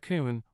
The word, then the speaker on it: คุณ: Sounds like kun, rhymes with soon.